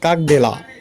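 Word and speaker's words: Как дела: তার শব্দ হচ্ছে কাক দেলা, কাক দেলা, কাক দেলা, উচ্চারণ কাক দেলা।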